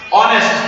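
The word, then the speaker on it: honest: তো এখানে অনেস্ট উচ্চারণ শুরু হলো অ দিয়ে, তাহলে আমরা এখানে কি বসাবো?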